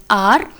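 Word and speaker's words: hour: har are wrong pronunciation we actually have h as silent in both the words so it is pronounced as honest and are so manthan is an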